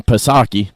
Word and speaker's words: Psaki: You remember Jen Psaki? You don't pronounce the P.